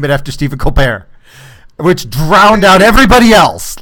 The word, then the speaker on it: Colbert: and he went mainstream he'd never pronounce his T in his name he's got like the spore rapport he had his like Oh Colbert Colbert right he talked to